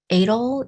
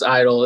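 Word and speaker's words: Eitel: not pronouncing this correctly it's edel eatle e-i-t hi it's it's idol it's it's perfectly fine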